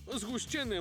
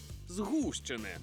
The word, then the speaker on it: згущене: усе життя казав згущений згущене молоко наприклад а от словник виправляє і каже що правильно наголошувати на у згущене уявляєте згущений згущений згущений